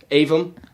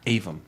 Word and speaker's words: Aevum: How do you pronounce that? Avum. Avum.